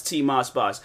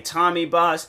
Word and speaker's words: TMossBoss: And then like, not even like even the pronunciation of how you pronounce TMossBoss. I've heard people say Tommy Boss, TMossBoss, freaking. What are some other ways people have pronounced my name?